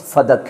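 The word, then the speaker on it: فدک: نام پڑ گیا فدق۔ فدق بھی کہا جاتا ہے، البتہ صحیح تلفظ فدق ہے، فدق۔ فدق نے وہاں رہنا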